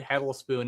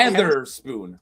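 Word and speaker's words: Hetherspoon: See, I told you he said hedle. He said it wrong. to him. Oh, what what is it then? It's not Heather Spoon.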